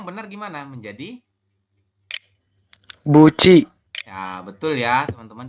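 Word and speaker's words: 붙이: seperti itu ya karena ada tiet di akhir ketemu dengan vokal I maka tiet berubah bunyi menjadi ci ci seperti ini jadi kalau kita baca adalah Bu Ci seperti ini Jadi dibacanya Buci bukan ee apa namanya Buti seperti itu yang ini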